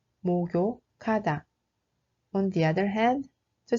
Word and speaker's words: 목욕하다: The ninth is 목욕하다. That means to take a bath. The actual pronunciation is 목욕하다, 목욕하다.